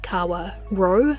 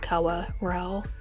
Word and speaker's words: Kawarau: In Maori, the syllable R-A-U is actually pronounced R-O as in ro, not rau, and also the R